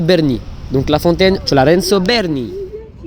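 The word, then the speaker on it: Bernini: Alors, petite erreur de prononciation, c'est la fontaine Lorenzo Belni. Apparemment, c'est Berni.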